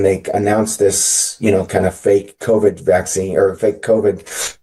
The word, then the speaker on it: PHEIC: Which I think is really interesting that it's that if you spell it or sound it out, it's called FAKE, right?